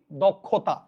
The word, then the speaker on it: দক্ষতা: কি বোঝাতে পারছি কিন্তু খেটা যদি মাঝখানে এবং শেষে থাকে তখন ক এবং খ উচ্চারণ হবে লিখেছে কি দক্ষতা দেখেন দক্ষতা ক এবং ক হয়ে যাচ্ছে পরীক্ষা না পরীক্ষা ক